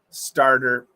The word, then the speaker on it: starter: that any pronunciation drills starter well it's it's a flap T so you got to get that it's got to be fast star so you can